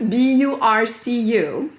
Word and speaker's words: Burcu: Because it's Burcu. Okay. And how do you pronounce it? Burcu. Burcu. I don't know. I have to write it down. Bur. Cu. Yeah. Burcu.